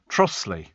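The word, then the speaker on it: Trottiscliffe: So not too far from Ruthen is Trotter's Cliff, pronounced Trossley.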